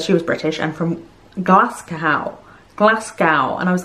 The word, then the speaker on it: Glasgow: was british and from glasgow and i was like where's glass cow oh he means glasgow and he's pronouncing it as glass cow as if it rhymes with how americans say moscow i mean glasgow does